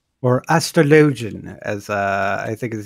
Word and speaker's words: astrologian: just is monk um second would actually be astrologin or astrologian as uh i think is the official pronunciation you know as a i have food